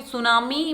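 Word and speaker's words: tsunami: बता रही हूं कि सुनामी बोला जाता है तो उसमें ऐसे स्टार्ट होता है लेकिन सुनामी स्टार्ट कैसे होता है अत इसे पीस में साइलेंट रहता है लैंडस्लाइड्स भूस्खलन मतलब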